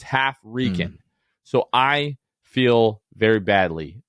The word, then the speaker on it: HalfRickan: So Hafrican is actually half Rican. But in my defense, Luke, it's spelled HALFRICKAN. So half Rick Ann.